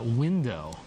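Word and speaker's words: Whindo: What is this thing called Window? Window is our ticket portal, and it's free to sign up. And it's spelled interestingly, W-H-I-N-D-O.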